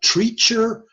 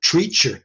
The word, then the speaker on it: Treacher: associated with something called Treacher Collins syndrome spell that word Treacher TR EA CH ER like teacher but with an R in it Treacher Collins Co llin